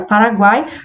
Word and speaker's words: Paraguai: Na palavra Paraguai, nós pronunciamos a letra U, né?